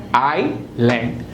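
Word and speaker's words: island: इट is written as इलैट लेकिन बोलेंगे क्या आईलैंड patio not patio but patio Debbie there is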